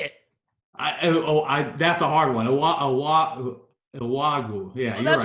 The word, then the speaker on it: Iwuagwu: Owagu.